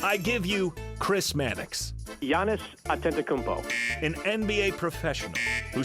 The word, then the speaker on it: Giannis: ted davis the bucks play-by-play guy it is giannis and yet you keep putting this man